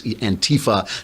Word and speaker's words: Antifa: They put the accent on the wrong syllable. It's Antifa now beating up people in